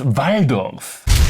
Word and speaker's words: Waldorf: Verdict: it's pronounced Waldorf.